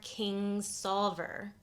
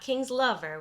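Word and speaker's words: Kingsolver: That is Demon Copperhead by Barbara King Solver, not King's Lover, which is how I have been pronouncing her name for many years now.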